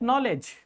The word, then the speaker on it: knowledge: There are so many words when you find K before N you should immediately know that K is silent. You are not going to pronounce it. You should start your pronunciation from N not from K.